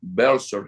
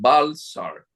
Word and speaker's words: Welser: La primera inversión, incluso extranjera, grande la hicieron los unos alemanes, que es la casa Bser, se escribe Welser. Aquí en América le llaman Balsar, que a ellos fue que les dio el emperador Carlos I, Venezuela.